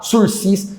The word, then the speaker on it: sursis: será que o mesmo uma palavra francesa que começa com s e termina com s quando é assim a gente não pronuncia o segundo essa fica o sursis você vai passar vergonha